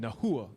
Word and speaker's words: Nahua: Okay, yeah, I'm seeing that's how I pronounce it. Nahua. Okay, Nahua.